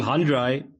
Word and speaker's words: Handrei: like the English name Andre, but it's got an H in Handrei.